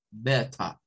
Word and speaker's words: better: Beta, beta. Y van a escuchar que un británico no pronuncia better, ni dice better, sino que dice beta.